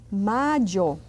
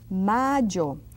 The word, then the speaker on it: mayo: And we say mayo. May. Month of May. Mayo. See that Y? I do it quite strong.